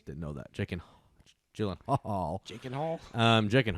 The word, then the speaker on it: Gyllenhaal: Jakey Gyllenhaal, spelled with 2 A's. Didn't know that. Jake and Gyllenhaal.